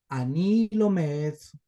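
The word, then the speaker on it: לומד: Entonces sería ani lomed, ani lomed, ibrit. Ani lomed ibrit. ¿No ve? Aquí el cheva no se pronuncia porque está entre dos vocales cortas.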